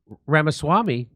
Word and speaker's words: Ramaswamy: And so now Vivek Ramaswamy, rhymes with stomachache.